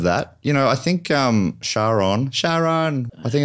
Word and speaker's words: Charon: Or Greek ferryman Charon. Or Charon.